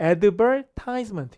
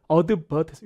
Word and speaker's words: advertisement: 그래서 광고 회사가 나왔었는데 여기 이제 영국식 발음이라 미국식으로는 이게 advertisement 이렇게 되죠. 저도 그렇게 외웠고요. 근데 이제 영국식으로 하니까 저도 이제 토익 하면서 영국식으로 했는데 이게 이렇게 돼요. advertisement 여기 강조했어요. advertisement 알발음 빠지고.